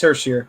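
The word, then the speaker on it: Hischier: uh how do you did I pronounce his name right, right? You pronounced it right." Yeah, it's Hersheier.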